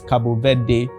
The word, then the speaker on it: Cabo Verde: It's Cape Verde in English. It's Cabo Verde in Portuguese.